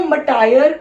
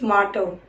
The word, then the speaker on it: martyr: इसको मटायर कई लोग बोलते थे, मटायर नीड इज मार्टर।